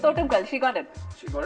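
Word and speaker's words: Thottumkal: Ain't and so can you pronounce her second name? Totunkul. Not bad. Not bad. Not bad. Huh? What- It's Totemkal.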